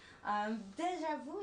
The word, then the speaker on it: déjà vu: I'll let you guess how we pronounce it in French. Oh gosh, why are you doing this to me? Déjà vu. Almost. It's actually déjà vu. Déjà vu. Perfect.